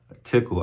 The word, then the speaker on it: TCL: I remember TCL scripts or we called it takal tickle I think is the proper pronunciation, but shout out to me t- o man.